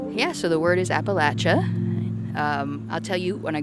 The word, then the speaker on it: Appalachia: A lot of out-of-towners say Appalachia, and the people that live around here know and think it's Appalachia. And my very first memory that comes to mind is there's this composer named Aaron Copland who was also interested in this. He was pronouncing it Appalachia his whole life until he came to the area and learned it's pronounced Appalachia way after Appalachian Spring was composed.